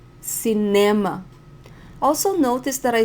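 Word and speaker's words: cinema: the movies by myself notice the word cem the stronger syllable is NE cema also notice that I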